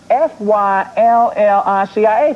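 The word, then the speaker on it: Phylicia: and you work with Felicia Rashad, Right. and That's Felicia. Felicia Rashad. Rashad. Felicia Rashad. No, it's Felicia. No, that is pronounced Fyllicia.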